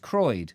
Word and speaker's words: Croyde: How do you pronounce it? Croyde. Hemorrhoid. Is it Croyde? Oh, just Croyde, not...